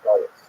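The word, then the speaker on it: גלות: but the word exile, the Hebrew galut, or in the Ashkenazi pronunciation, galus, that Jews were thrown out of their land.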